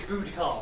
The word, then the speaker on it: Boudica: She pronounces it Boudicar.